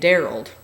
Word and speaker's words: Darrell: There was an old guy on post, a civilian resident named Darrell, rhymes with Harold.